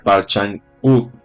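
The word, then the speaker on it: Park Chan-wook: Es coreana del año 2016 y la dirigió Parchan Wook. El nombre se pronuncia Parchan U y es el mismo señor que hizo All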